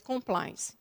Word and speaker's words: compliance: Não, a pronúncia vem do inglês. Ela é uma palavra originária da língua inglesa. Sim. O termo é realmente compliance.